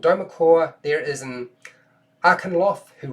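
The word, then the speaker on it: Dweomercore: Okay, so level 9 is, now if I can get this right, it's pretty hard to pronounce. Domercore. So it's called Domercore.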